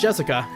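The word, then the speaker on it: 朱志香: Anyways, blah blah blah is pronounced Jessica.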